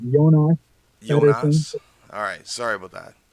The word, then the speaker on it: Jonas Petersson: Like before, it's Jonas Petersson.